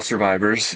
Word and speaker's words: SRVIVRS: Well, Survivors is an organization, as the word implies. It's spelled a little bit different. It's spelled SRVIVRS, and the I in